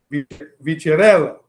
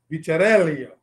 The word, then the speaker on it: Vicarello: We were going back and forth with the Italian pronunciation here. Vicarello. Yes. Vicarello.